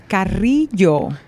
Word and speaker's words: Carrillo: Carrillo. Carrillo.